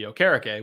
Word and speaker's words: Okereke: Yeah, it's not Okereke. Yeah. Because there was some confusion because he prefers the actual pronunciation to be Okereke, which is what it's supposed to be.